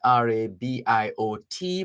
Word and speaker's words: Rabiot: France counting on Rabiot to play starring World Cup role. That name is spelled R-A-B-I-O-T, but the T is silent because it's French.